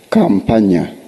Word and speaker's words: Campagna: Campagna. Campagna. In case you forget Campagna, you remember someone pronouncing Kampala. Then you change Nya.